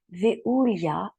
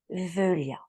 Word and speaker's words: Veuliah: sur les 72, l'ange Véulia. Vous pourriez le prononcer également Véulia et certaines personnes disent Veulia. Donc, Véulia, en fait, est l'ange qui va nous accompagner du 24 au 28 octobre.